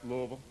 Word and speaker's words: Louisville: were producing down in Louisville you noticed I said it right Louisville how do you get